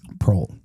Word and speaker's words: Proehl: Proehl. Proehl? Proehl. That's how you say it, right? Yeah, Proehl, As yeah.